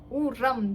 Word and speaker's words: урам: на улице Урам Да окончание ударений на а Урам Да мы слышим как бы оно такое глухой и не мягко будет а как бы немного тверже вот у нас слово у